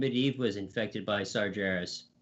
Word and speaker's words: Sargeras: Eve was infected by Sargeras by the way is a soft G sorry arias no one